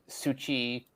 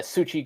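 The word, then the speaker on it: Xochitl: Um I think it's uh Suchi um yeah S uh Succi Gomez.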